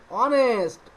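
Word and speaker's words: honest: এর পূর্বে এ বইছে এন্ড অনেস্ট অনেস্ট এই এখানে এখানে এইচ আছে কিন্তু এইচ এর মত উচ্চারণ হচ্ছে না অনেস্ট উচ্চারণ হচ্ছে অনেস্ট ও এর হচ্ছে ও অন্য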